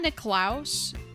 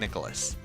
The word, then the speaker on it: Nicklaus: golden bear doesn't he are you sure it's not nick klaus nick j nick klaus his name is spelled so jack nicholas yeah i'm pretty sure it's jack nicholas nick i'm i've heard